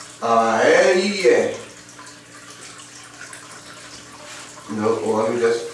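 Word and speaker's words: אהיה: And it's pronounced Ayeh.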